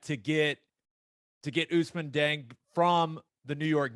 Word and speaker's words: Ousmane: I think that's how it's. Am I saying that right? Ousmane? It works for me. Yes, you're saying it right.